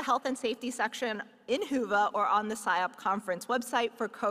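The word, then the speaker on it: Whova: Be sure to download our annual conference app, Hoova, pronounced Hoova for those who are wondering, to facilitate your in-person experience as well as to take advantage of virtual sessions.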